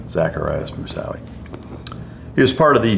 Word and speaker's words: Zacarias Moussaoui: Can you pronounce his name for me? Zacarias Moussaoui. Zacarias Moussaoui.